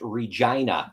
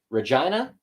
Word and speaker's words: Regina: from Canada, that is how our city is pronounced, Regina. Yeah. Don't know why. That is the pronunciation. Yeah. People want to be polite because when they see the word for the first time, they think Regina, it's probably Regina.